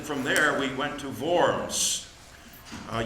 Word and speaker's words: Worms: there we went to VMS uh you've heard of the diet of worms uh we learned to pronounce things differently VMS is is the is the word for that uh where Luther defended